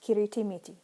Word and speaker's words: kiritimiti: word structure so that each new shorter syllable is like this first one here, has only an onset and a nucleus. The resulting loanword is pronounced kiritimiti.